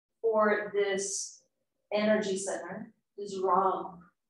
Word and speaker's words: Ram: And the seed mantra for this energy center is Ram. Ram. Spelled like Ram, R-A-M.